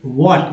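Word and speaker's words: what: वी वॉन्ट टू गो, वॉट, एच यहाँ भी silent है।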